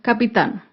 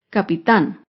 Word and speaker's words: capitán: ejemplo con la palabra capitán capitán es una palabra aguda se acentúa en la última sílaba y lleva tilde porque termina en la consonante n capitán otro ejemplo con la